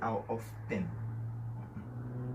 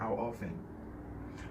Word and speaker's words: often: On prononce T ça. Pas dire how often. T ça va prononcer dans le mot ça. C'est how often.